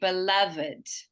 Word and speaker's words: beloved: your V yeah but in this case it's an unusual scenario where we actually pronounce that Ed so we say beloved so our beloved